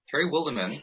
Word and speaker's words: Terry Wildemann: Am I pronouncing your name, Terry? Terry Wildemann.